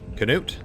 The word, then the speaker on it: Canute: Canute? Which is apparently how his name is pronounced.